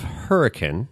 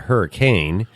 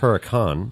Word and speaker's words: Hurricane: so you're you're actually in the town of hurricane okay okay so the the lay folk would call it hurricane but in Utah they pronounce it hurri con Hurrican hurri hurri Utah we're going to go